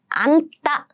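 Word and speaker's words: 앉다: And next we have 안따. Did you hear the pronunciation? Yes, it should be an. You need to use the first consonant.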